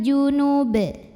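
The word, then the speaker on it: جُنُب: Wal jaril junub. Apabila berhenti di sini, baknya disukunkan dan dihukumi dengan qalqalah kubra karena huruf ba-nya sukunnya tidak asli melainkan kita sukunkan. Maka dibacanya dipantulkan dengan pantulan yang besar.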